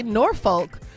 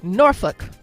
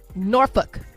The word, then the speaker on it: Norfolk: And if you say Norfolk, the people who live there will laugh at you because that is not how you pronounce Norfolk. It's actually Norfolk. Norfolk is how you say it.